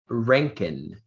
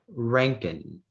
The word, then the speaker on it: Rankine: The word is Rankin.